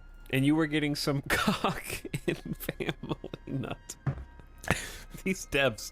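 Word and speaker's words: Kha'ak: It is pronounced cock. Not ka'ak, which is what I would normally say, but cock.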